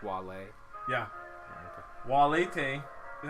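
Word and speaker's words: valete: Walete is how you say bye to multiple people.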